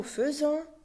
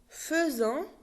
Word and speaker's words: faisons: Nous faisons, it's written F-A-I-S-O-N-S, F-A-I, but we pronounce it F. Not nous faisons, nous faisons.